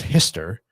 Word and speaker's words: Hister: The second was Hitler, which he pronounced, if you read his quatrains, was Hister, not Hitler, but that's pretty goddamn close.